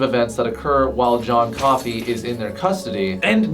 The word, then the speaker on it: Coffey: Michael Clarke Duncan's character, John Coffey, just like the beverage, only not spelled the same.